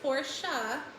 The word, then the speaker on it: Porsche: lamborghini ducati porsche and yes it is pronounced porsha siat skoda scania man